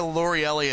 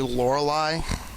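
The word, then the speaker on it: Lorelei: to call her loreli it's actually laureli but just the way her name is spelled I always used to think hey it's loreli yeah whatever her Pokemon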